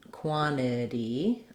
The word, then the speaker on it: quantity: So quantity, I make that into more of a D because it's between two vowel sounds, quantity.